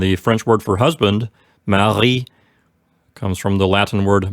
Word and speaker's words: mari: the word for husband, which is Mari. For those of you listening at home, be careful to get the gurgled French R sound in the middle of this word.